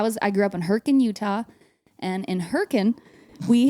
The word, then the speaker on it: Hurricane: of another slang word because it's spelled hurricane but if you're from there you go heren and Hur Utah we I was I grew up in herrien Utah and in herin